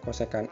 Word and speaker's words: kosekan: Ini tulisannya CSC, bacanya kosekan x, ini sekan x, ini kotan x, gitu bro.